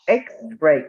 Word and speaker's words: X-ray: X-ray. ¿Cuál es el primer X-ray. sonido? Una E, ¿verdad? ajá, X, Ray. Entonces, aunque vemos, es una consonante, pero cuando la pronunciamos, lo primero que suena es una vocal.